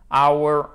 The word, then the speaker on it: hour: pardon en anglais qui dont le h n'est pas prononcé donc on ne l'entend pas ce h c'est away c'est exactement la même prononciation que away le l'adjectif possessif hockey hour our watch phone autres